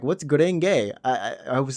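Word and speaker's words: 紅蓮華: I thought it was like Guren at first. Gurenge, it's a Japanese word. But there's like a gay on it. I'm like, what's Gurenge?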